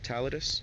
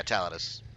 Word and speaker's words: Taladus: How do you say your name? Taladus. Yeah, Taladus.